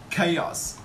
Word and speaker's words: chaos: CH a oh yes chaos just remember that we pronounce chaos okay chaos a straight of